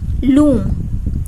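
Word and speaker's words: limb: लूम, एल एंड M, vowel ऊ, लूम. लिम, लिम में भी जो बी है वो साइलेंट है क्योंकि जब हम प्रोनाउंस करेंगे तो हम लिम्ब नहीं बोलेंगे, लिम, ठीक है.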